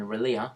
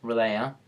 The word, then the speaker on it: Releah: This one is with my friend Releah, not Releah. I've called her Releah and I've found that, and she's informed me that that's not how you say her name.